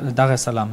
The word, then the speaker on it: Dar es Salaam: Ja, also wir haben gesehen, abenteuerlich war es da in wie spricht man das aus? Dar es Salaam? Dar es Salaam, ja.